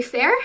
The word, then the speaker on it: faer: And so the last two, you pronounce the first one, Fae Fair, and so it's Fae/Faer, and you would use that one to be like, oh yeah, can Faye come too?